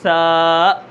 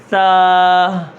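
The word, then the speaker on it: ثا: اندر کیا کرنا ہے، اس کو 1 الف کے برابر کھینچنا ہے، آخر میں حمزہ نہیں لانا، جیسے سا۔ ہا بھی نہیں لانی، کیسے سا۔ اب اس طرح زبان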